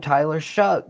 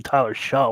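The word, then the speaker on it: Shough: Where is the C and the K in that name to make it shuck like corn?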